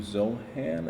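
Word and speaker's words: Zohran: New York has, excuse me if I mispronounce his name, Mr. Zohan. Am I saying that correctly? Zohan Yes.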